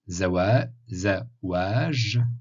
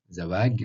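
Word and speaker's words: زواج: Harf al-Jim, ça se prononce J, comme le J français, ou en Égypte, G. Voilà, prononcez comme vous voulez. Donc Zawaj, ou Zawag en égyptien.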